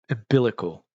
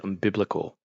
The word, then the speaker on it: umbilical: right I'm mispronouncing it umbilical umbilical chord did I say it right I I always said unbiblical like as if it's like Bible based umbilical chord okay two